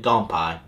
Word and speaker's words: Kanpai: those gone pain that's if you just look at straight say Kanpai that's how I number said Bob what's the definition how they pronounce it gone pie quite stress but guys